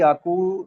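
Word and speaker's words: 百: 100 को हम बोलेंगे याकू। ठीक है? जो अभी हमने प्रोनाउंस किया है।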